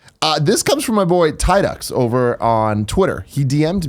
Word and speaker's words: Tidux: should follow him at TIDUX. It's like Teases from Final Fantasy X, but with an X at the end. But he goes by Tidux.